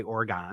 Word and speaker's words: Oregon: suburb up here uh is named after the state of Oregon but we say Oregon yeah I used to